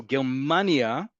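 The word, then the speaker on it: גרמניה: So Germania, you can hear it also. The emphasis is on the second to last syllable. Germania, the emphasis is on the last syllable.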